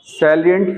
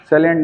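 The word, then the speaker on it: salient: कुछ कह रहे बताइए सलिंट फीचर्स साइलेंट नहीं जानते साइलेंट नहीं है साइलेंट और सलिंट में डिफरेंस है मुख्य फीचर वो साइलेंट नहीं है उसको साइलेंट मत पढ़िए यह सलिंट फीचर बोला जाता है ठीक है मेन फीचर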